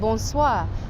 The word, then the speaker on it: bonsoir: and afternoon saying hello the French also have bonsoir bonsoir use when you can actually visibly see that it's nighttime or usually like after 4 maybe 5 p.m.